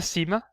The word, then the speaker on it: Ⲥ: So we have the Cima, it's pronounced as an S.